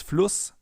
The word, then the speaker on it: Fluss: Because in front of a double S, the vowel is always pronounced short, as in Fluss or Kuss, for example. If we would take a sharp S here instead, it would be Fluss or Kuss. But it's Fluss and Kuss.